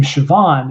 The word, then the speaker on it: Siobhan: I actually got a compliment in my Yanni's Ghost video because the name Siobhan is spelled Siobhan, and because it's Irish.